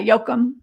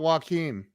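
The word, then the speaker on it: Joakim: Yeah, well, and I'm probably not even saying it as well as they do, but yeah, Jokum. It's not Joachim. No, it's Jokum.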